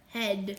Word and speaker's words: head: It's EA together makes a short E sound. So, blend. Ha. D. Blend. Head.